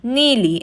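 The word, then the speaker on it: ನೀಲಿ: Blue is pronounced neeli in Kannada.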